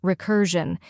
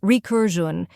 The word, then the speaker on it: recursion: First, we have re, which sounds like the word re. Next, cur, where the u is pronounced like in curl. Then jun, where the zh is like the s in measure, and the un is soft, sounding like un.